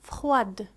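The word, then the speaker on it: froide: لكن عندما نحول الصفة إلى المؤنث فإننا نضيف أ وتصبح يعني الدي تنطق. مثال فخواد.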